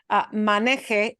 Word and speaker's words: maneje: If I punch the last syllable, it becomes something totally different.